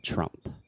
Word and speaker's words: Trump: And then finally, there is no vogal de apoio. So you don't want to say the E at the end. The last sound is the P sound, the P. So we're saying Trump.